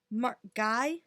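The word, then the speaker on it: Ngai: Her partner is Mark Guy, N-G-A-I. Guy? Yeah. We'll go Guy. Okay, so it's Mark Guy, so just regular Mark, and then N-G-A-I. You know, the spelling is everything.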